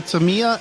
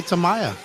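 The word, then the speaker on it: Tamiya: like some people say Tamia and some people say Tamaya I say Tamaya I say Tamia yeah you say Tamia that's probably the right way to say it but we all pronounce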